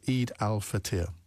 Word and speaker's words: Eid al-Fitr: It's spelled E-I-D, or it's actually the full name, and Ajmal is still with us. He'll tell me if I get this wrong. It's Eid al-Fitr. Is that right? Fitr.